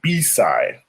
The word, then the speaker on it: B-side: And that side is called B-side. Spelled like beside, but it's pronounced B-side. B-side.